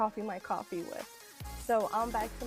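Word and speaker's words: Ko-fi: and I'm going to keep it well I pronounce it Kofi English is my second language so that's okay Teddy says it's actually pronounced coffee cheers to the coffee cuz yes it is 5 p.m.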